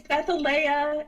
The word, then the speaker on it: Bethalea: Is it Bethalia or Leah? It's Bethalia.